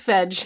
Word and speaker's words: fedge: It's fedge.